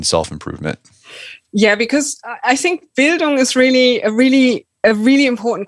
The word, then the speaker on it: Bildung: Is that my pronunciation is Bildung? Yeah, Bildung, super.